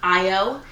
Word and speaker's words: Io: So as I've mentioned, his name is Io. That is spelled I and then O, so literally how it sounds.